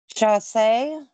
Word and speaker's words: Chausse: Chausse. Chausse. No, it's French. It's S-S-E-E. Oh, okay. Yeah. Gotcha. Like sachet, but not.